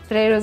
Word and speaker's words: potato: Italy and that's why we don't say potato uh when I used to peel potatoes and cucumbers we say potato the syllable after the first T is stressed we pronounce the letter t as t p potato and